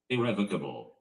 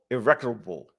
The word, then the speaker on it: irrevocable: I pronounced that wrong. Let me get that right. Irrevocable. Irrevocable.